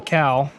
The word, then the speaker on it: cowl: Cowl. C-O-W-L. It's not a cow like moo. You didn't pronounce it. Cowl. Cowl. Cowl. Or a cowl.